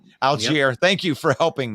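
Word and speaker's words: Allgeier: So it's not the way it's spelled. It almost looks wrong. It looks like it should be more French, more Algier than Algier, but it is Algier.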